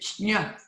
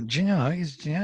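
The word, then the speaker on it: ज्ञ: Well, you know, if you are pronouncing nya, some people pronounce it shnya, so they almost have that j in there, shnya. Yeah, jnya is correct, but it's a combination j and nya, jnya.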